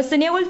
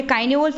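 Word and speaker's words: Cynewulf: যাবে দ্যা সিনে উলফ অনেকে বলে কাইনে উলফ অনেকে বলে সিনে উলফ তো এবং আমি প্রোনাউন্সিয়েশন নিয়ে অনেক কিছু বলি বানান ঠিক থাকলে হলেও প্রোনাউন্সিয়েশন কিন্তু ভ্যারি করে একেকজনের ক্ষেত্রে একেক রকম কিন্তু আমাদের বিষয়টা ঠিক কিনা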